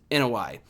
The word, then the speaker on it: Anoa'i: I always call it Anoa'i. I always got that wrong, but it is Anoa'i.